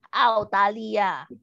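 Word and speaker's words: 澳大利亚: Autalia. Australia. Nadanya 4 semua. Australia. Autalia. Australia. Australia. Nah, ditekan empat-empatnya ya. Oh, 4-4-nya nada 4 semua kan?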